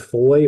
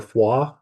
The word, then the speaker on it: Foix: Yeah, so after La Roche, we hightailed it to our Airbnb, which was in the town of Foy, or Foix, as it's correctly pronounced, I believe.